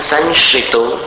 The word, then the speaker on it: संशितो: जैसा उच्चारण होगा तन संशितो निर सं का अनुस्वार जो है वो संशय जैसा उच्चारित करना संशितो फिर निरवकाश निरवकाश तयानी